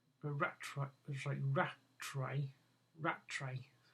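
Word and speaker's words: Rattray: head of station F uh Commander wi Commander ratway rat sorry ratray ratray r a t r a y my pronounciation not as good as it should should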